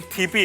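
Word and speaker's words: tipi: इसका actual pronunciation थीपी है, बट अब इंग्लिश में हम उसे टीपी कहते.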